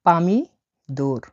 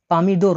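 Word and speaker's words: помидор: ডাকা হয় পামি দোর। পামিদোর মানে হল টমেটো।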